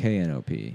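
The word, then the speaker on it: Knope: coming to work today isn't that what it's spelled like no it's knop oh I never read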